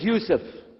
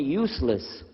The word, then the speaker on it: Yusuf: we'll work on it inah my name is Yousef you say Yousef say Yousef you're very good I wish you teach my wife she keeps mispronouncing it she calls me useless alhamdulillah now how many of you were in